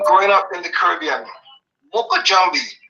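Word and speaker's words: mokojumbie: you know in growing up in the Caribbean M Jambi it's spelled m o k o j u m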